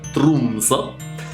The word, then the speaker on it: Tromsø: stata scattata a Tromsø, che si pronuncia Tromsø. Credo, è il norvegese tutto un po'... quindi Tromsø dovrebbe essere.